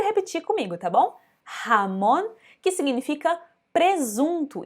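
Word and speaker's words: jamón: repetir comigo tá bom ramon que significa presunto então esse j não vai ter só um de mas atenção que sai da garganta ramone aproveitou a segunda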